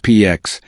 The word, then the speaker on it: P4X: He chooses P4X, pronounced PX, a cheeky nod to enforcing peace by punishment.